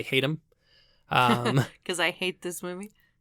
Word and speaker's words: Hatem: The screenplay was written by Richard, I think it's pronounced Haddam, but to me I want to say Hatem.